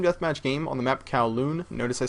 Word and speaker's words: Kowloon: It's Sam or XJaws, and today I'm bringing you guys a team deathmatch game on the map Kowloon. Notice I said Kowloon and not Calhoun.